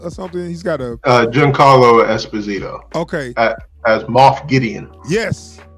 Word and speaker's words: Giancarlo Esposito: It's Carlos Esposito or something. He's got a Giancarlo Esposito.